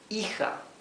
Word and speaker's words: hija: Hijo and hija for son, hijo, and daughter, hija. Okay? Remember when we spoke about the J? Okay? It's more than the English H. It's actually a rougher sound. Hijo. So here the H is totally mute.